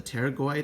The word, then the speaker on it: pterygoid: two lateral pterygoid processes remember the pterygoid has a silent p so i take a